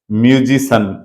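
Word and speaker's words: musician: होगा ये ध्यान रखना क्योंकि इसका उच्चारण सन है म्यूजिशियन म्यूजिशियन फिजिशियन फिजिशियन बोलते हैं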